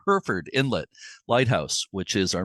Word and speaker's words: Hereford: Herford Scott just corrected me in the the pronunciation Herford Inlet Lighthouse which is our main subject for